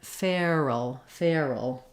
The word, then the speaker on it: feral: the name feral but the pronunciation has the letters AR saying the air diphthong so I'll write that here like the word Fair you'll see it in the IPA being the air diphthong we're gliding from a kind of an a position into our ER so again trying fair by itself and then feral feral so with furl furl